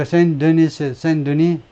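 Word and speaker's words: Saint-Denis: 우리가 Saint Denis, S는 발음하지 않고 Saint Denis에서 우리가 아주 재미있는 것들을 갖는다.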